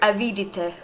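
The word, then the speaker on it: Avidité: And now I'm going to figure out how to say his last name. Not Beaumont's last name, the Greed Demon's last name. Yeah, I said it right. Avidite. Yeah, it's literally greed in French according to Google Translate.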